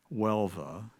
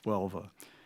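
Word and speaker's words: Huelva: Um the city is pronounced Welva. Maybe in Spanish it's a little different, but it's Welva.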